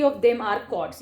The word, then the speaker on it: chord: यस, ऑल 3 of them are कॉर्ड्स. ये क्या है? कॉर्ड. CHORD. एच यहाँ पे साइलेंट होता है. ठीक है, आप चॉर्ड नहीं पढ़ेंगे इसको, you call it एज कॉर्ड. आप इसको कॉर्ड पढ़ेंगे.